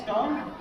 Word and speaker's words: scone: I always say scone. Rhymes with grow.